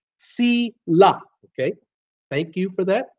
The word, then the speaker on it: Sheila: Sheila Sheila said you're saying my name Ron it's si la ok thank you for